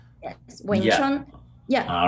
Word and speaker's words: Wing Chun: Yeah, just pronounce like Wing Chun. Wing Chun. Chun is like the spring. Chun Tin is spring. Yeah, Chun, Wing Chun. Right. So the wing is what, 6? It's also 6 tone, right?